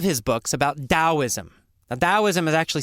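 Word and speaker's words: Taoism: Why didn't we just spell it with a D?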